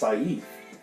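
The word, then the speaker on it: caiph: and there's an interesting word that's pronounced saif which is spelled c-a-i-p-h and it defines opinion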